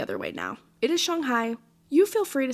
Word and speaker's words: Shanghai: And yes, it is pronounced Shanghai, not Shanghai.